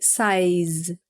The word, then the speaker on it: size: A pronúncia de size, que é tamanho, ela é essa daqui, size. Tem um sonzinho de Z no final, né?